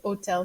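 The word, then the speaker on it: hôtel: starts with a vowel you can put hotel here too remember that h is silent and then for our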